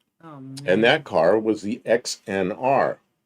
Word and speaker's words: XNR: And that car was the XNR. If you pronounce that, it's Xnar.